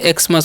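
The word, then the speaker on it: Xmas: अब आगे लिखा हु एक्स एम एस तो इस हम क्या पढ़ेंगे एक्समस पढ़ेंगे एक्स मस ठीक है तो एक्समस मतलब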